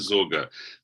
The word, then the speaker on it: Sorge: the book about Richard is it sorgeous how do you pronounce the name Richard zoga the s-o-r-g-e he's the greatest uh